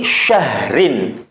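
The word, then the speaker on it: شَهْر: Maka cara bacanya perhatikan, min alfi syahr. Didengarkan? Min alfi syahr. Jadi ra-nya masih tetap kedengaran walaupun samar, memang harus dibaca samar.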